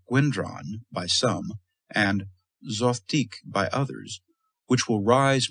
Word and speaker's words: Zothique: Smith would later tell DeCamp that the name Zothique was constructed on the analogy of antique, and therefore rhymes with it.